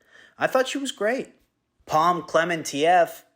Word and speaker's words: Klementieff: Klementieff, at least I think that's how you pronounce her name. I just looked up videos on how to pronounce it, and it was just people going, Klementieff, Klementieff. So I'm just going to assume that's correct.